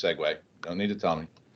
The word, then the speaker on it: Segway: call in my world a wonderful sagu which I know is actually pronounced Segway no need to tell